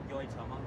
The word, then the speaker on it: Yoitomo: How do you pronounce the name of this restaurant? Yoitomo. Yoitomo? Yeah. Okay, I said it right.